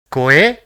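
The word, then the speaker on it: 声: So it will be pronounced as Koe, which means voice.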